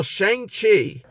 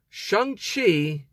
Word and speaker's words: Shang-Chi: a movie i saw shang qi what oh that's how you pronounce the name sorry excuse me shang chi and the legend of